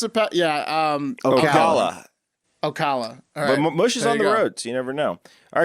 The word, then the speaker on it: Ocala: really picture in there how do you pronounce it yeah Ocala you never know all right guys back on June 12th st.